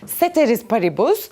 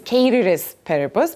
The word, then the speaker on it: ceteris paribus: that we know this most of you probably know this as ceteris paribus but it's apparently the correct Latin pronunciation is carries purpose but most of the people would say it ceteris paribus and if you say carry spare boost they would look at you probably you know in